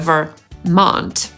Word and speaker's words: Vermont: Później jest Utah /ˈjuːtɑː/ i Vermont /vɚˈmɑːnt/. I akcentujemy drugą sylabę – /vɚˈmɑːnt/.